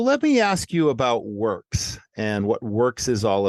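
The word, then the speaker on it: Whirks: spelled w-h-i-r-k-s so it's it's pronounced works but it's spelled not as you would typically think of it but tell us that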